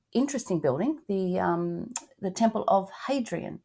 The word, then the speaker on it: Hadrian: building, the Temple of Hadrian. Do you pronounce the H? Yeah, you do.